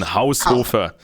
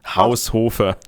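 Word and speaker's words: Haushofer: we would pronounce it house really with strong pronunciation house Hofer house Hofer house Hofer okay so Carl Houser who was the teacher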